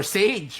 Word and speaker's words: SXGE: SXGE or Sage rather. Okay, as corrected by the comment section. That's how you pronounce that.